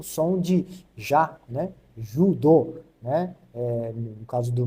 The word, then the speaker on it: judo: Então o o J no Japão ele tem esse som de DJ, né? Então fica du, né? Judo, né?